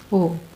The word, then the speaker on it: Om: When we say Om, it has these three syllables. A, U, Ma. When you open your mouth, A. In between, U. When you close your mouth, when your lips come together, Ma. And then silence.